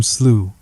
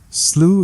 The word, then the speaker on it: Slough: to describe it no slooh is pronounced like the British English plow or plow as the Americans would have it in fact betchin might have written instead come friendly plow and dig up slooh the sentiment would have